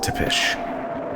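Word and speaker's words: Țepeș: Also, I think it's pronounced Tepesh, even though it's an S.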